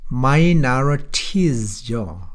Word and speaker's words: minorities: 자, minorities죠. 그런데 t가 부드럽게 돼서 r 발음이 된 거야.